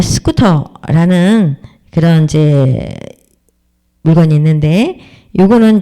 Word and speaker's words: scooter: 스쿠터 이렇게 뜨 발음으로 스쿠테가 아니고 스쿠터 이렇게 발음을 하라.